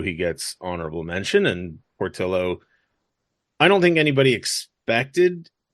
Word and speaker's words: Portillo: California when I see your name I assume Portillo and he said yeah my grandfather's from Spain but we're from Sweden it's Portillo but yet probably correctly pronounced as Portillo and I was like all right great cool